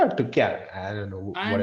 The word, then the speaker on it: Tuchel: of Tuchel.